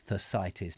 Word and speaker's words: Thersites: I guess that's Thersites, not Thersites, as it is spelt.